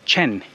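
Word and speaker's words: חן: sounds like it is the way that we will read it will be Chen C hen but when you pronounce it in Hebrew it's totally different uh CH is kind of like the sound is more like um like if you're clearing your throat so it's really that's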